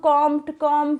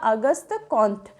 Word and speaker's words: Auguste Comte: pronounce एशन किया जाए इनका जो नाम है वो फ्रांसीसी भाषा का नाम है ठीक है तो अगस्त कौं है ठीक है हम लोग कम कम ऐसे बोलते हैं लेकिन यह सारा ही जो उच्चारण की दृष्टि से वो गलत है इनका सही उच्चारण हो जाएगा अगस्त कोथ ठीक है यह चीज भी